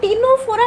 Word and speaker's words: Ctenophora: जेमिति कि देखो phylum टिनोफोरा मु ताको प्रोनाउंस करूची टिनोफोरा कहूची किंतु से स्टार्ट होची सी रु स्टार्ट होची तमे ताको टी रु स्टार्ट करि दबो नाही जेहेतु तमे माने फर्स्ट